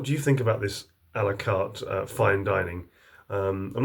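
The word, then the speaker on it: à la carte: yeah that's fine dining that's alakar alakat it's pronounced in the English way um and that's how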